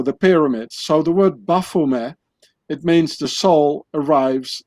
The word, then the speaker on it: Baphomet: be pronounced Baphomet, because the Knights Templars, they spoke French and not English. So the T at the end of Baphomet, it's not being pronounced in French, so you say Baphomet.